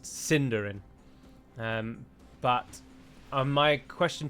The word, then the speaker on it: Sindarin: delighted in reminding me that it's not actually pronounced sindarin it's pronounced cinderin um but um my question to you would